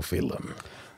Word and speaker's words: Phelim: origin of your name it's spelled p-h-e-l-i-mphalum yes it's an Irish scent actually since film it's after a saint yes and there was the Saint philom uh Aer Lingus aircraft which crashed in 1963.